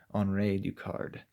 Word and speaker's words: Henri Ducard: so it's Henri Ducard although he's French so I think it'd be pronounced on raid you card but anyway so Batman